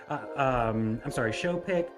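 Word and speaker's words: Choupic: The bayou's native name was Bayou Shoepick. That's how my dad always pronounced it. I know that some people call it Shoepick. Showpick, but I'm going to go with Shoepick for tonight.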